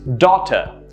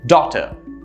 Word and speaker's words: daughter: as data which is not correct the character pronunciation is of course is daughter notice how the stresses in the first syllable and the second syllable sort of tapers down and is very soft daughter let's look at another one if you were